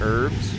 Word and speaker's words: herbs: too and uh and herbs that's right I did it it's a silent h guys oh look at